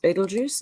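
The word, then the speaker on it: Betelgeuse: about a star called Bell to geese spelling but it's pronounced Beetlejuice oh Carol said yeah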